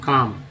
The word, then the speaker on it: calm: इम यहाँ पर एल है, अब एल को क्या बनाएंगे, जैसे CALM काम, यहाँ पर एल जो है साइलेंट है, काम।